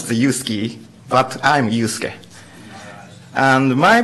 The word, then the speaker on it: Yusuke: I am Yusuke, not Yusuke. many people pronounce the Yusuke, but I'm Yusuke.